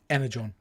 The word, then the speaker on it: Energon: But because of, how do you pronounce it? Energon? Energon.